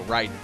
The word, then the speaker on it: Raiden: lightning named Raiden, or Raiden if you want to pronounce it correctly to the lore of the original country it's from.